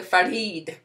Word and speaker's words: Farid: that's from Dr Farid I used to call him Dr ferret and he would get so mad because I would mispronounce his name I was like I can't roll my R's that well Dr Fareed and basically